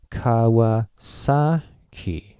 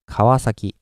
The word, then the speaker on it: Kawasaki: right so Kawa sake how many of you give the strong accent of this one and yeah the pitch to you would go Kawa sake right well but Japanese yeah as I've already told you I will go like Kawasaki the volume is flat and peach is a in this case I guess it's like Kawasaki but the thing is the pitch is not so important at this stage